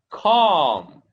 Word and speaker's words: calm: Such as palm, calm, caught. Okay, the L sound is silent. Okay, we don't pronounce L here and here, calm, and the R sound, caught.